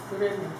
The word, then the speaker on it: 구레네: 여러분, 구레네를 발음을 잘해야 됩니다. 어디라고요? 구레네. 예, 구린내가 아닙니다.